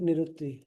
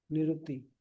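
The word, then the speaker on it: निरृति: जो है यहां पे निरुत्त निरुत्ति या निरति भी बोलते हैं इसको साउथ में। हम निरति के हिसाब से प्रोनाउंस करते हैं।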